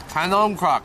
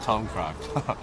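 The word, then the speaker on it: khanom krok: Can croc. Yeah, that's what it's called. Not kum croc. Can croc. Sorry, I got the name wrong.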